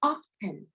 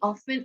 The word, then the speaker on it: often: I will just read the sentence and when I see the words, I just freestyle, maybe often or often. So some people pronounce this word as often, pronouncing the T.